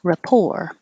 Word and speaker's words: rapport: can do this Rapport it's ra and then poor just like we did earlier with poor Rapport and the stress is on the second syllable or and culture I